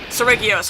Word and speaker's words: Seregios: Sir Regios. Yeah. Seregios, hard G.